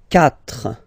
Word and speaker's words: quatre: Quatre. Quatre. Okay, so remember that even if you get this u vowel here, basically you don't pronounce it, because that's the rule in French.